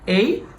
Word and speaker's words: a: তুমি মনে রাখবা যে এই লেটারটার উচ্চারণ কখনোই এ হয় না এটার উচ্চারণ সাধারণত দুই রকম হয়ে থাকে একটা হচ্ছে কি এই আরেকটা হচ্ছে কি? আ নট এ।